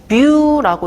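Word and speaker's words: μ: 그래서 요거 읽을 때 뮤라고 읽습니다.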